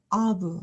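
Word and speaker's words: אב: 있습니다 이것은 브라고 읽습니다 왜 아브가 되는지를 보면 먼저 자음 알렙이 음처럼 약한 소리를 내고 그다음에이 카메츠 아는 것이 아 모음 기호가 되고 그다음에 매트가 브 소리를 내기 때문에 아브 하고 읽게 됩니다 다음으로이 단어는 어떻게 될까요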